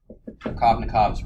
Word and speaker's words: Markovnikov: And this is called Markovnikov's rule. And I mispronounced it for a majority of my first